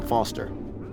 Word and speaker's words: Foster: I'm Foster. I'll remember that easy because your name rhymes with fossil and you're old.